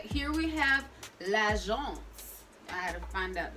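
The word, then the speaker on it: L'Agence: All right, here we have lagence. I had to find out the pronunciation. It looks like Elle Agency or something like that, but it's lagence, okay?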